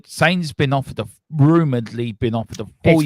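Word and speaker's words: Sané: He said Sane's been offered rumoredly been offered a 4-year contract.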